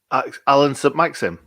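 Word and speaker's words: Allan Saint-Maximin: say his name again alan submits him is how you say it it's not maximum yeah no i'm pretty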